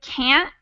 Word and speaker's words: can't: that t because that t is really light we barely say it so when I say can't can't I'm saying a t but it's not a t in the same way that I would pronounce Turtle it's a stop in my throat so I can't the same way I